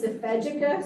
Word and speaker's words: Ifejika: I had heard her name pronounced both ways, so I asked her if she wouldn't mind clarifying. And it's Ifejika, so I just wanted to correct that. We had so many people, on the Zoom here. That's how she pronounces her name.